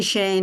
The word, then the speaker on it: Schoen: I'm Shane, and there's no reason that you would ever pronounce my last name correctly Sorry about because it's not the way it's not the way it's spelled.